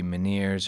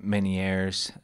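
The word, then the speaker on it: Ménière: is uh manir disease I looked up uh a few different pronunciations with this um it could be miners or manier um or or man which is the most French sounding so I'm going to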